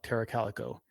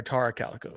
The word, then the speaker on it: Tara Calico: Um, am I nervous to cover certain stories like Terra Calico? Uh, yeah. Or Tara Calico. Sorry, I said it wrong.